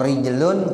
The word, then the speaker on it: rijlun: Kalau rajulun artinya laki-laki, kalau rijlun kaki. Nah, beda ya. Padahal tuh tulisannya sama Bapak Ibu. Ro, jim, lam. Tergantung gimana kita mau bacanya. Kalau ja'a rajulun, jangan dibaca ja'a rijlun. Ya kalau ja'a rijlun datang kaki lah, kaki datang sendirian. Ya, ja'a rajulun itu bacanya begitu, orang laki-laki datang.